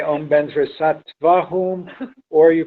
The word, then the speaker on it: Vajra: So hopefully you will accomplish everything in practice if you say Om Benzra Sattva Hum, or you pronounce Om Benzra Sato Hum.